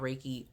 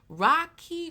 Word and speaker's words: Reiki: I get asked about raiki all of the time what is raiki Rocky re Rey you know uh a lot of mispronunciations right it's something that you